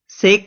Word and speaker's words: sake: यहां पे जो से है इसे हम फादर के फा जैसा प्रोनाउंस करेंगे, और जो की है इसे ये वे से राइम होगा, तो हम इसे क्या बोलेंगे, साके. इसे हम बोलेंगे साके.